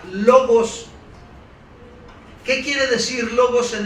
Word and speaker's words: logos: Ahora, esa frase verbo en el idioma original que está escrito en griegos significa o se pronuncia logos.